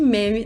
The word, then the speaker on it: meme: fala como é que meme deve ser pronunciado. Ele diz que a palavra deve rimar com cream. Ou seja, em inglês, a pronúncia certa é meme.